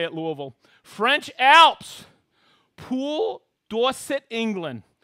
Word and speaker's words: Louisville: doing louisville kentucky that's how you say it louisville french alps pool dorset england cool jersey channel